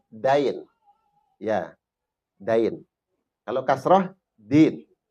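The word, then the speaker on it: دَين: Bukan dal, dain. Ya, dain. Kalau kasroh, din. Din pembalasan. Kalau kita rubah jadi fathah, dain artinya apa? Artinya apa? Hutang. Hutang. Hutang. Makanya ada ungkapan al-wa'du, janji itu dainun.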